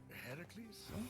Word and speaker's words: Heracles: That thing with your voice? Heracles? Yeah, that. That is how it's supposed to be pronounced.